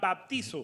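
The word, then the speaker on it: βαπτίζω: La palabra bautismo, la palabra en el griego original se pronuncia baptizo.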